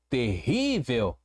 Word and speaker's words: terrível: Olha como é que se separa. Ter, rivel. Ok. Percebi que a penúltima sílaba, o ri, ele é mais forte. Ele é o tom, ele dá o tom desta palavra. Terrível, terrível. Ele dá cadência. É a sílaba forte.